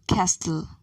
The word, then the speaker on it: castle: words thailand thames thomas note the letter t is silent in a few words listen and say these words listen castle not t is the name